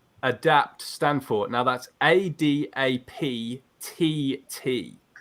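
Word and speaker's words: ADAPTT: stand for now that's a Dap TT so you pronounce it adapt but it's got two T's at the end guys okay a d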